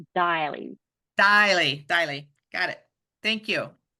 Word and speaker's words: Deily: It's Daily.